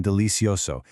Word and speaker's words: delicioso: Spanish, está delicioso. Notice the soft C pronunciation in delicioso. It sounds just like an S.